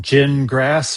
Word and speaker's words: Gingras: Wait, Especially are if we still all talking of about Jingris or Gingras, or are we talking about Gingras.